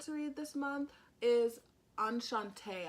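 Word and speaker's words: Enchantée: read this month is anchante i think i said it wrong in my vlog before but i'm pretty sure hopefully i'm not saying it wrong again but i'm pretty sure you're pronouncing enchante and it's by yeah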